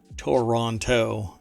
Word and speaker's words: Toronto: you're a torontonian but you don't actually say Toronto as the Toronto you don't say all three syllables it kind of Blends together as Toronto um and uh anyway